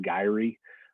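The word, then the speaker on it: gyri: called gyrus uh and multiple ones we call gye I've also heard it pronounced gye um just so you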